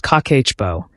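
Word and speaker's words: Kakeibo: The first principle is called Kibbo, pronounced kakehbo, and it's the foundation that everything else in this video builds on.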